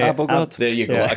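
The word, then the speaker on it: Abildgaard: I can only remember the mispronunciation, but it's not Abregard. What's his name? Abelgard.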